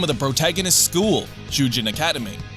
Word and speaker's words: Shujin: of the protagonist's school, Shujin Academy. Although written differently, the name Shujin is almost phonetically identical to the Japanese word for prisoner, Shujin.